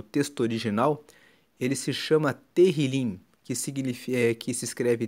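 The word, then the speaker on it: Tehilim: Salmos no no texto original ele se chama Terril, que significa que se escreve T E H I L I M e Terrilim significa louvores.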